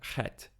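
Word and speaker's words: חית: Next we have Chet. Chet is another pharyngeal consonant, just like Ayin. It's pronounced slightly differently in modern Hebrew versus biblical Hebrew. In biblical, it's a rough H sound, like Ha.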